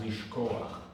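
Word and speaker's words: לשכוח: to close out this topic, when it ends on the chet, it's pronounced lishkoach.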